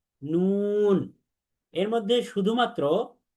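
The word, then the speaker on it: نون: এই মিম এবং নুন, এই দুইটা হরফও 3 আলিফ করে উচ্চারণ, 3 আলিফ টেনে পড়তে হয়। তাহলে আমরা বলি মিম, নুন।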